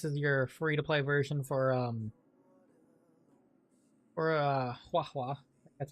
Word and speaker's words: Huohuo: We get this light cone here, which I guess is your free-to-play version for Huohuo. That's how it's pronounced.